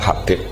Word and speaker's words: Habib: Itu di harakatnya kitab itu ada yang nulis Hubab. Yang benar Oh, nggih. Yang benar itu bacanya Habib. Habib itu Asulami itu ikut marga Rabiah itu.